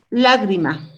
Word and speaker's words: lágrima: Pero la fuerza de voz está en la penúltima sílaba. Aquí. Lágrima. Aquí hay una sílaba. Otra sílaba. Esta es mi última sílaba, penúltima sílaba y antepenúltima sílaba. Lágrima. Solamente veo dónde está.